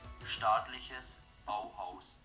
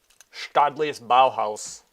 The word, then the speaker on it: Staatliches Bauhaus: Staatliches Bauhaus. Staatliches Bauhaus.